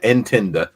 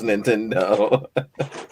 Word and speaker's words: Nintendo: they they call it intend I swear all the old people used can never pronounce Nintendo it's intender have ER B yo